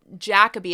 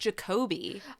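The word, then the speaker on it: Jacobi: In the past, I've said Jacoby. It's actually pronounced Jacoby.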